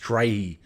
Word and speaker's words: Strachey: software was designed by Christopher Strachey, or maybe pronounced Strahy, but the Strachey family, such as Lytton Strachey, it's quite a prominent family in the United Kingdom.